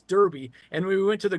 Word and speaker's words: Derby: stuff like that and it's Darby even though it's d rby y but it's Derby and we went to